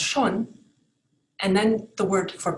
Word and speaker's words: schon: So for example, in German, the word schon, which means already, is pronounced schon.